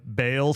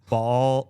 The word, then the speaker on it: Baal: You had like a little Well, so so I know like it's pronounced bale sometimes. It's pronounced ball.